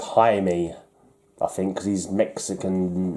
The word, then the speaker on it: Jaime: It's pronounced Jaime, I think, because he's Mexican descent. Did I say Jamie Reyes? It's Jaime Reyes, isn't it? Because the J's are pronounced as H's.